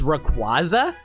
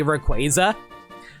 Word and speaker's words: Rayquaza: Yeah, because like like I grew up pronouncing Rayquaza as Rayquaza because I was a dummy who didn't realize his name is a pun on Quazar. So, it's obviously supposed to be Rayquaza.